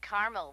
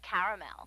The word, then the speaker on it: caramel: it in Carmel actually you said Carmel when it's pronounced caramel can't we just call it